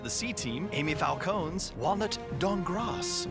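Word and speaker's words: Dankgrass: C-Team, Amy Falcone's Walnut Dongras. The K is silent.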